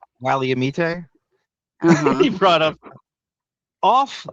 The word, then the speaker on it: Willamette: He He brought up the Willamette River in the opening, which is kind of How do you say it? Willamette Wally- Wally- amite Uh-huh.